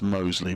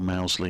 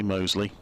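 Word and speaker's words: Mousley: young cricketer i have double checked it is pronounced mostly by the way sometimes even called mousely and all sorts but he does say mosley two broken fingers for dan mosey last summer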